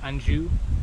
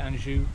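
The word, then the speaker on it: Anjou: queen Queen Margaret of Andrew I think that's how you pronounce it Andrew it's a French name she often times ruled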